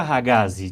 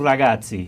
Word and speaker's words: Ragazzi: Em português vira Ragazzi, de toda forma em italiano Ragazzi. Ragazzi.